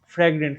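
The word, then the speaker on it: fragrance: ফ্র্যাগ্রেন্স, হ্যাঁ আমি উচ্চারণ ঠিক মতো করছি, ফ্র্যাগ্রেন্স এটা।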